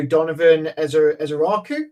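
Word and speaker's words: Donovan Ezeiruaku: And then for the final pick 32 for the Philadelphia Eagles, I'm going to go Donovan Ezeraku. Am I pronouncing that correctly?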